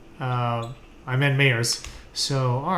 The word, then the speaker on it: Mayers: It's spelled M-Y-E-R-S or M-A-Y? M-A-Y. Okay, yeah, no. Yeah. Like everybody says Myers, but it's actually Mayers. It's because of Mike Myers, probably. Yeah, that's exactly. Yeah. Like, I meant Mayers.